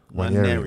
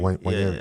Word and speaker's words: Nwaneri: Ranieri? Nwaneri.